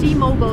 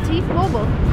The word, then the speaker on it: T-Mobile: So remember, it's in American, it's T-Mobile, because Americans don't say mobile, they say mobile. So the company's name in American is pronounced T-Mobile. T-Mobile was a rapper.